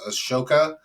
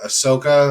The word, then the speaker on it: Ashoka: Empire in India was Ashoka or ahsoka and they'll pronounce it either way and he's known for